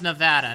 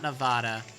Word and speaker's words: Nevada: And I know with Nevada, it's Nevada, not Nevada.